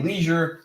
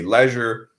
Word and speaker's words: leisure: Some people say leisure, I say leisure. It will highly depend where you're from, what accent you have, meaning what dialect you